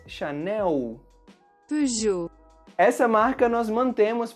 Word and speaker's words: Chanel: No Brasil, pronunciamos Chanel. E palavras que terminam com a letra L têm esse som da letra U em português. Chanel.